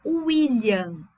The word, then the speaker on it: William: Quando ele tiver o som de uma vogal, a vogal é U. Por exemplo, o nome William.